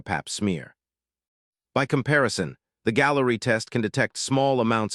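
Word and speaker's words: Galleri: The Food and Drug Administration has been evaluating a blood test called Gallery, pronounced like Gallery, as a breakthrough device that can detect many different types of cancer in one test.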